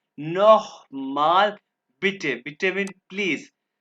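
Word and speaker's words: noch: माल बेटे नो माल ये सी एच जहां भी आएगा इसको ख की आवाज पर कहेंगे ख नोख माल पिटे पिटे मीन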